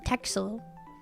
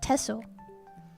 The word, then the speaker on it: Texel: I I assume that must be like the local dialect because you don't pronounce it with an X. You don't pronounce a texel. It's pronounced tessle.